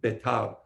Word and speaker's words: Betar: The city of Beter, I know people pronounce it Betar, right?